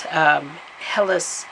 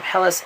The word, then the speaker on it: Helice: was sometimes known as Helles i think i'm pronouncing her name helis EXO and this was